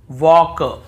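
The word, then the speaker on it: walk: हो देखिए यहां पर भी हम टॉक टॉक वॉक वॉक चौक चॉक यक यक फॉक फॉक ऐसे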